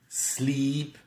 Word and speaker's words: sleep: Bien prononcer le i long parce que avec le i court, slip veut dire glisser. Sleep, slept, slept.